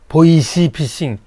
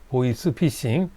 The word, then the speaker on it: 보이스피싱: 그 저랑 공부하시다 보니까 보이스 피싱이 발음이 잘 안 돼서 보이시 피싱 보이시 이렇게 하시는 분도 계세요 발음을 잘 연습하세요 보이스입니다 보이 아니에요 보이스 피싱 7번 지하철에서 상대방의 동의